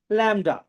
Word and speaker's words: lambda: With a symbol that looks like this, and you should know that it is pronounced a lambda.